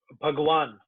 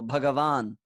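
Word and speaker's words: Bhagavān: Because well, whenever you see lines above vowels, which means that it's a dirgha, it's a long vowel. So Bhagavan.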